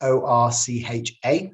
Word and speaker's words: ORCHA: So Orca is ORCHA. Some pronounce it Orcha, but Orca stands for the Organization for the Review of Care and Health Apps.